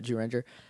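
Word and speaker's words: Zyuranger: since we started watching Jew Ranger. We're saying Jew Ranger, even though it's spelled like ZU Ranger, Right. because that's how it's pronounced.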